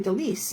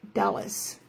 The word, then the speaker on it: Delise: Now I can call you, when I see you pop up, I'll call you Delise, not Dallas. That's good. On the wrong syllable, right?